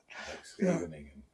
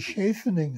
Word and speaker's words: Scheveningen: It was often used as a password against the Germans, right? For yeah, because they would make it Scheveningen. They couldn't say it. They couldn't say it properly, no.